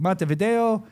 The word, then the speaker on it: Montevideo: Montevideo.